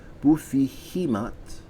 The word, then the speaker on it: Baphomet: trump of the tarot by baphomet equals pronounced and more spanish as bufi hematt equals father of understanding